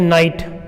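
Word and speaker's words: knight: है अंग्रेजी भाषा में जैसे कि यहां पे लिखा जाए नाइट के एन आई जी एच टी तो यहां पे देख रहे हो ये साइलेंट हो गया नाइट पढ़ रहे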